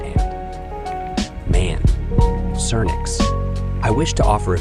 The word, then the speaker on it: Cernyx: Cernyx should always be pronounced Cernyx and Cernunno should always be pronounced Cernu. No, don't let anyone tell you otherwise.